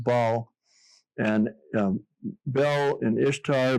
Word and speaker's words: Baal: It's that's how the initial uh it's actually pronounced bal and um bell in Ishtar bec became bal